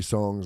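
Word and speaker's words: psongs: it's been coming out in small chunks three songs and three songs and then two songs and the whole record's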